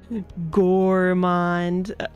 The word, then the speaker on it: Gormond: Gormond. Oh yeah, because it's spelled differently, because it's like gore.